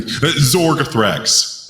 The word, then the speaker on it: Zorgothrax: Maybe Zorgothrax. That's because it rhymes with anthrax.